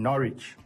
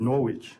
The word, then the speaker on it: Norwich: me who we were talking about the town Norwich yeah and I pronounce it Norwich yeah and it's obviously having a sign on